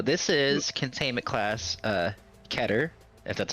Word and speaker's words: Keter: Uh, Keter, if that's how you say it. K E T E R. K E T E R. Yep. All right. So, keater class Ker, what the hell do you say it?